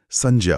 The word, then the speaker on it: संज्ञा: व्याकरण के जानकारों के अनुसार इसका शुद्ध उच्चारण संज्ञा होता है। ये दो शब्दों से मिलकर बना है, सम और ज्ञा।